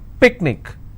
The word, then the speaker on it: picnic: Picnic, I will stress on pick.